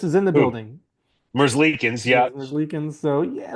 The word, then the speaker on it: Merzlikins: I can't pronounce his name. Elvis is in the Who? building. Merzlikins.